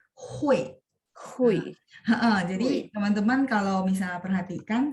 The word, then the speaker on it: 会: dia UI, jadi sebenarnya pas baca itu selipin e ya, jadi hui.